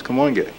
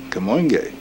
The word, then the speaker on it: Kamoinge: so we decided to call ourselves come on gay which people had very difficult times pronouncing and spelling but a spell ka mo ing e come on gay okay